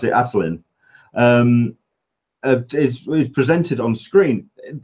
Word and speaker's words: Attilan: I pronounce it Attilan.